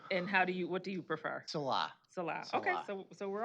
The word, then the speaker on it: Salah: Okay, and then hopefully we are saying your name right, because I've heard it pronounced different ways, so. I'm used to that. And what do you prefer? Salah.